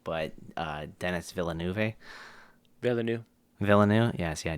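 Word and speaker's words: Villeneuve: I'll probably butcher the name, but uh Dennis Villanuv.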